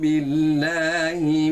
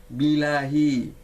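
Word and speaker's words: بِاللّٰهِ: A'udzu billahi perlu ditekankan tasdidnya atau syiddahnya. Sebab karena pengaruh dialek, sebagian kita ada yang membacanya bilahi, bukan billahi, tapi bilahi. Dan itu kesalahannya juga termasuk fatal, karena menghilangkan satu huruf sebenarnya.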